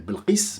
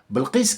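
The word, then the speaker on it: Bilqis: tu vas faire SAB elle s'appelle belqis Belkis si vous voulez pour les gens qui ne peuvent pas prononcer belqis qu'est-ce que tu vas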